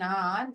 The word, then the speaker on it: hour: It takes me an hour to go to school. எனக்கு 1 மணி நேரம் எடுத்துக்கும் ஸ்கூலுக்கு போறதுக்கு. Here the letter H is silent.